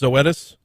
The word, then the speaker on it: Zoetis: if i'm not mistaken is you say it's pronounced zoetis yes yeah i've been mispronouncing that one yesterday